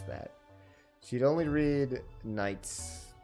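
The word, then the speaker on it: Nietzsche: that she'd only read Knights s and without a bookmark she couldn't move on to other philosophers nii that's how that's pronounced philosophy along with psychology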